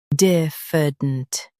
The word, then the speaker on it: diffident: Diffident. Both US and UK have the same pronunciation of this word. Stress diff. Keep f soft and dent quick. Diffident. Diffident. Stress diff. Keep f soft and dent quick.